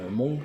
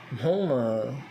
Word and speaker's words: Hmong: Pour le Hmong, pour le mot Hmong, bien sûr. Hmong, c'est le H. Il y a le H dedans, on le prononce.